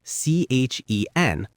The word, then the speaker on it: Chen: I always say, I'm Chen, Chen, like the tea.